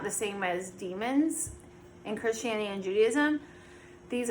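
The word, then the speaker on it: daemon: like a d-a-e-m-o-n um it might be pronounced demon but it's spelled like damon and it's not the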